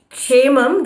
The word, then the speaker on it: क्षेमं: Kshemam, the first syllable is always k, so you have to hold the ik.